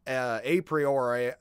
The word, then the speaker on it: a priori: before and apart from all experience kant labels ah priori you will also hear it pronounced by americans ah a priori a priori or a priori and that which